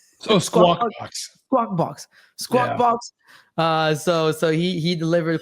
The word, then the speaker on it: Squawk Box: Oh, Squawk Box.